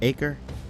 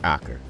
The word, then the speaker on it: Acre: Oh, and you're going to hear me pronounce it Acre or Acre. I've heard it pronounced both ways, so I'm using it both ways.